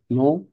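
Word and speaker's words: nom: নামকে বলে কি বলে নো দু ফামি নো দু ফামি এটা নম হবে না নো এম উচ্চারণ করতে পারবেন না নো দু ফামি তাইলে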